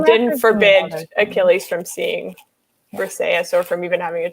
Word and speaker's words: Briseis: Briseis, thank you.